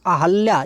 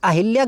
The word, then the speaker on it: अहल्या: है ना छोटा हो अहल्या ये शब्द बहुत महत्वपूर्ण है। अब देखिए मैंने अहल्या क्यों बोला क्योंकि यह अहिल्या गलत है। इसका सही उच्चारण होता है अहल्या।